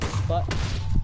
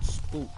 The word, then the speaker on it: Sputnik: And the first satellite was Sputnik, not Sputnik, Sputnik. Babushka is actually pronounced Babushka, which means grandma.